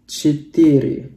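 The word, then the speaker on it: четыре: Nah, untuk 4, dia bacanya jadi Cetiri, cetiri, ya. Jadi seperti ini cara bacanya, cetiri.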